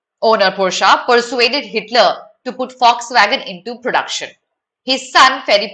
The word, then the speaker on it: Volkswagen: This is pronounced as Volkswagen. It is not pronounced as Volkswagen. No, I am deliberately saying Volkswagen because that's how it's pronounced. This is not an English word, my child.